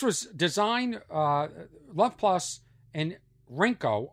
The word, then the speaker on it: Rinko: This was designed, Love Plus and Rinko, R-I-N-K-O, although in Japanese it is pronounced Ninko.